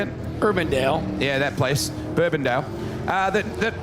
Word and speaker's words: Urbandale: Urbandale.